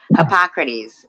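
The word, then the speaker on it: Hippocrates: villain T hypocrite hypocrates hypocrates is how you say it hypoc correct they hypocrates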